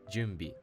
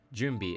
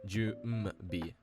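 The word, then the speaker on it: 準備: So first, when you have an n sound that precedes a consonant that uses your lips like m, b, or p, words like junbi or sanpo, the n doesn't actually get pronounced as its usual kana reading. Instead, it actually assimilates into an m-like sound. Junbi is not ju n bi. It's ju m bi.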